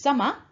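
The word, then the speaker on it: 様: And this kanji is pronounced sama, for example, kami-sama.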